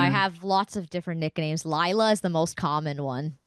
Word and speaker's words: Layla: according to the American perception, it is definitely Layla because it's L Yes. A Yes. L Yeah. A Y, but Mm-hmm. in the Brazilian language of Portuguese, that's pronounced Lila. Yeah.